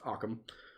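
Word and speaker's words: Occam: And in her words, this is razor, which by the way, it's pronounced aam or not.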